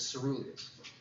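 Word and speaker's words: coeruleus: It's pronounced as ceruleus, okay?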